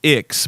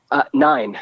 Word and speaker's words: IX: So the new album, I believe, is pronounced Ix, but I could be wrong. 9.